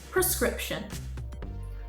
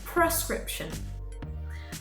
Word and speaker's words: prescription: pharmacies is prescription it has become common in the uk to put a per sound at the beginning instead of a pr sound so to sound better than a native brit make sure to pronounce like this prescription prescription and those are our